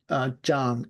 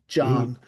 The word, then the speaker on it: Zhang: So I'm working with Dr. Jang, Zhang. You pronounce it like a J, Zhang.